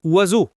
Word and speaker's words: oiseau: Si vous ne l'avez jamais entendu, impossible de deviner que ça se prononce oiseau. Il y a sep lettres et on en prononce genre trois.